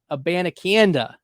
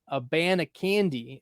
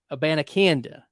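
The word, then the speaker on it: Abanikanda: Hubbard go at running back 54 and Israel a banakanda that's how you pronounce it it's not a a band of candy uh it's it's well it's not a bandiconda it's Israel a banacanda and I I figured it out by listening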